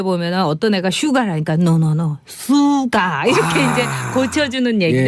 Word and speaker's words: SUGA: 그리고 이제 그 수가라는 친구가 있어요. 네. SUGA. 네. 근데 이게 이제 슈가가 아니라 수가인 거예요. 수가. R이 없고. 그래서 이거를 또 미국 애들이 이제 유튜브에 보면은 어떤 애가 슈가라니까 노노노 수가 이렇게 이제 고쳐주는 얘기도 예.